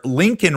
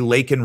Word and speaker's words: Laken: headlines like this one Biden calls murdered jogger Lincoln Riley president 881 holds up pin given by maray green and says Georgia student was killed by an illegal gets her name wrong ooh baby the viral